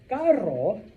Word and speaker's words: carro: Okay, so pero or perro. Okay, there's another one. Caro means expensive. Carro means car. Okay, so maybe you just bought yourself un carro caro. Expensive car. All right, so you kind of have to, like I said, try to make a little bit of a difference, okay?